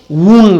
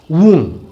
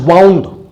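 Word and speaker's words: wound: वून, इसका correct pronunciation है वून. सम ऑफ you have noticed have been pronouncing this वर्ड एज वाउंड. वाउंड बोलते हैं आप लोग, वाउंड नहीं है, दिस इज प्रोनाउंस्ड एज वून.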